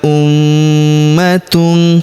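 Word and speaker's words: أُمَّةٌ: Tilka ummatun. Perhatikan huruf ma kita tahan dan kita tekan serta kita dengungkan dua sampai harakat ya karena terdapat tanda tasdid di atasnya.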